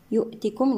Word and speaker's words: يؤتكم: وآمنوا الواو هنا مد طبيعي وصلا ووقفا، برسوله يؤتكم هنا مد صلة صغرى يمد بمقدار حركتين من محققات المد الطبيعي. يؤتكم نحقق الهمزة، يؤتكم كفلين، الميم مع الكاف